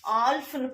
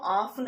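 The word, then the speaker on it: half: ஆல்ஃப்னு படிக்க சொல்ல மாட்டோம், ஆஃப்னு சொல்லுவோம். ஆஃப், ஆஃப், ஆஃப்.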